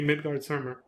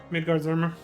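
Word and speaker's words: Midgardsormr: Midgard-Zormr. Yeah, but again, the Z sound I think is how you say it, because I think that's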